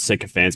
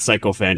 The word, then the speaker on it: sycophant: It's not psychofant, it's sycophant.